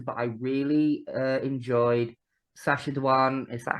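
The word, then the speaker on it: Sacha Dhawan: of the doctor but I really uh enjoyed sasad danan is that how it's pronounced yeah as the master 18 grew up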